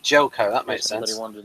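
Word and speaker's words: Željko: Danvers, and that first name of the actor is pronounced Jelko. Yep, Jelko.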